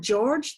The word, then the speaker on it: Georg: way whatsoever and actually if you look at the Germanic versions of George its Georg like that the e is pronounced there a + u u let's